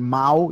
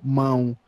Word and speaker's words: mão: like that little sign in Portuguese and the A, you just say it like in your nose. So instead of going mau, you go mão. Yeah, it's Mão. just Mão, alemão.